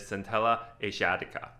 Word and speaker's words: Centella asiatica: solution for rosacea is centella asiatica or scintillation this is the proper way of pronouncing it this is a plant